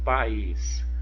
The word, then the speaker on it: país: Outro exemplo, país. Olha, o is é a sílaba tônica.